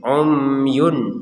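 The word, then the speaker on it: عُمْيٌ: baca dengan jelas bukmun umyun nah di sini ada tanwin kita lihat dulu setelahnya adalah huruf Fa maka kita baca dengan samar jadi yang ini dibaca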